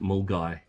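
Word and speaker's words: Milngavie: Scottish place to name is Mul Mulgavi pronounced Mulgai.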